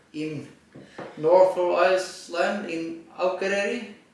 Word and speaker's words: Akureyri: In north of Iceland, in Akureyri. That is correct pronounced, or? Yes, more or less. We are in Akureyri, which is of course